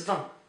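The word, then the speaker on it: vingt: So set 20 is V. So V. So don't pronounce the G. Don't pronounce the T.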